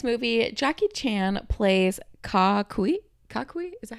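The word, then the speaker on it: Ka-kui: Kakui? Is that how you pronounce it? Kakui. Kakui.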